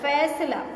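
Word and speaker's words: फ़ैसला: फैसला, फैसला नहीं होता, फैसला, फैसला, फ के नीचे नुक्ता रहेगा।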